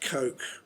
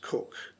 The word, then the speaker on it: Coke: Now I often pronounce it Coke, but it is pronounced Cook, so I will use the correct term Cook.